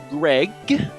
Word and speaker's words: Gregj: We got our Pokemon Gregj, the J is silent.